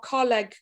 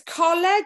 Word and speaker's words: Coleg: from Coleg Gwent, or Coleg Gwent. It's Coleg if you're in Newport. If you're in the Swansea Valleys like I am, it's Coleg, okay?